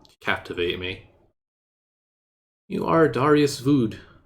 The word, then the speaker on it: Vöd: me you are Darius vood rhymes with rude an ambitious and hard-working